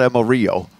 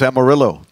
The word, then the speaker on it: Amaryllo: Dave's mispronouncing it no it's not Emma Rio it's Amarillo it's summer yeah that's